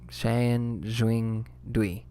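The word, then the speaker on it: 三星堆: Sanjui Dui.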